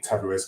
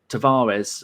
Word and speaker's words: Tavares: but having i thought tavares or tuvage i think is how you say it because uh tom keeps